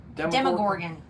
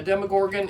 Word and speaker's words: Demogorgon: Demogorgon.